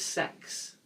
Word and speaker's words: CeX: And the shop, I would call the shop CEX or CEX. But I have heard there's a different pronunciation, and this has come from Wikipedia of all the reputable sources that are out there, that it is described as sex.